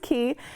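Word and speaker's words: Quay: The pronunciation is a little tricky, but it is pronounced Key.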